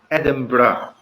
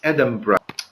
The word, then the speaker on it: Edinburgh: the end is written B eurgh but it's pronounced Edinburgh and it's Edinburgh to see that's in the following question so